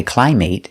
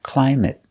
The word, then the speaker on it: climate: also have many words ending with a t that are multiple syllable that are never verbs so they're always pronounced with a short sound it it it example climate we never say climate it's always climate climate the climate in